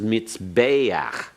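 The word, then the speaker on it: מזבח: where you sacrifice is mitzvah notice the pathetic furtive there pronounced before the Haith let's say that one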